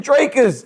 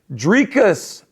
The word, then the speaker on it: Dricus: So I was when he said Dricus, I started saying Dracus. I was like, he has to be saying it wrong. Dricus. Because he always says Dricus Du Plessis fight this weekend, guys.